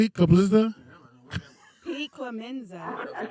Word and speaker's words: Clemenza: Different voices according to Clemente, whatever his name is. Clemenza. Yeah, he says I call him with different voices every day. Yeah, how do you say it again? What'd you say? Clemenza?